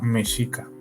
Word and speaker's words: Mexica: eh mexica sí y así se pronuncia mesica de acuerdo era el